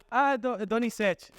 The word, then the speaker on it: Donizete: Então, eles falam para mim, como pronuncias o nome de Donizete em português, tá? E eu falo, Donizete, tá?